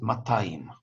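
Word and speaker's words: מאתיים: Кстати говоря, слово «меатаим», которое обычно произносит «матаим», 200, тоже от слова «сто», «меа», где «гей» меняется на «тав».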